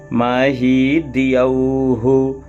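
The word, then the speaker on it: महीद्यौः: अब देखिए मही है फिर डबल द है और या है, या में औ की मात्रा, तो एक महीद दूसरा द्यौहु। अब यहाँ औ बोला जाता है, हम हिंदी व्यंजन वर्णमाला में ए ऐ ओ औ ऐसा पढ़ते हैं, पर संस्कृत में ए आई ओ औ ऐसा बोलते हैं, तो इसलिए महीद्यौहु बोलेंगे।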